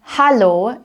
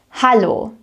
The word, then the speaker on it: Hallo: So in hallo, you want to pronounce it with an A sound. Repeat after me. Hallo, hallo.